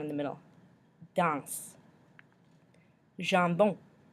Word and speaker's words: jambon: Jambon. Jambon. The French word for ham. We've got the on sound at the end.